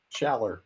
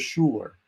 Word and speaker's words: Schaller: Somehow all the teachers put U's in my name. I was Schuler.